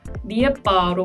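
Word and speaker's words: lijepa: 단어로 예를 들어보자면 세르비아어에서는 레빠라는 단어가 예쁘다라는 뜻인데요. 크로아티아어에서는 이 단어가 리에빠로 발음이 된다는 이런 옛값이 추가되는 이런 차이점이 있고요. 또 세르비아어에서는 보다라는 단어가 비데띠인데요.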